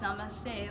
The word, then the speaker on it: Namaste: It is pronounced Namaste, although some people say Namaskar.